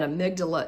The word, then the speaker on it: amygdala: for all of this an amygdala is spelled a-m-y-g-d-a-l-a a-m-y amy so when my intrusive